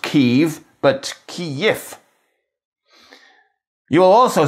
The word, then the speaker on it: Kyiv: Putting all this together gives us Kyiv. So there you go. If you really want to say it like the Ukrainians, it's Kyiv. Which is all lovely, but if you do use it in an English sentence, people won't know what you're talking about. So that's why I suggest Kyiv as a happy medium.